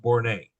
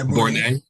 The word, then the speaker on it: Bornay: And Brother Vice Polemark, for one of the other past Polemarks, his last name is pronounced Bornay. Yeah, Bornay. Yeah. Bornay. Stephen Bornay.